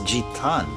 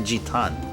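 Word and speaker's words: ジタン: Oh, actually his his name is Jetan. It's actually Jetan, but yeah, Zadon is like the closest, but his name's actually Jetan.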